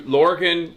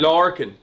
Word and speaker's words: Lorcan: We gotta introduce you, Lorcan Collins. Am I saying it right? Yeah, that's right. That'll do me. How would I say it? No, I want to say Lorcan is fine. Lorcan.